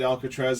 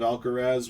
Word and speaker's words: Alcaraz: If a guy said Alcatraz instead of Alcaraz, would you have had